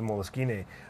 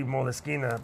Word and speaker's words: Moleskine: there's no moleskin involved it's actually moleskina because that's just the way it's pronounced in Italian but I just saw